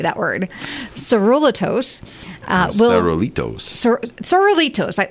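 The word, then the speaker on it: Sorullitos: Saruliatos. I would say saruliatos saruliatos saruliatos.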